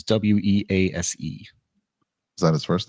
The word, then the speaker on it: Wease: Weiss is Wease.